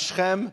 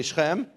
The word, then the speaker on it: Shechem: Now, in the English, you'll see Shechem and Hamor, but it's pronounced Shechem, say Shechem, and Hamor, say Hamor.